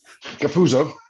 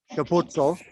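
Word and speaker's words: Capuozzo: Yeah, well, I'm really fluent in Italian, so it's Andrew Capuzzo. Capuzzo.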